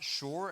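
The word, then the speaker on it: שיר: up that word sing in hebrew and it's pronounced shor and you know what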